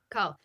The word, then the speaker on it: Coeurl: this is based on that, how do you pronounce it? The cool the call the call. Yeah, call.